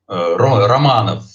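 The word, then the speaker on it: Романов: Sim, a pronúncia em russo é Romanov. Nem tudo a gente pronuncia como escreve.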